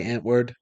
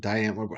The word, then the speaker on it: Die Antwoord: rather hear them say die N-word than die Antword," right? So Okay. he changed the way he pronounced the band's name to make it rhyme. Yeah. Antwoord, die Antwoord, however you pronounce it.